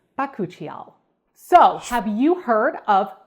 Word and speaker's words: bakuchiol: sound bites and yes that is how you say it it's bakuchiol so have you heard